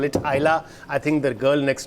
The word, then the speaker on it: Islay: Please, next time when you pronounce that, don't call it Islay, call it Islay.